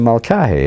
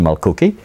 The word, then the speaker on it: Mulcahy: And he would call me Mr. Mulcahy and since he was able to pronounce it, I was very flattered indeed, you know. I mean, I've been on the stage when a student has said, "I have a question, Mr. Mulcookie."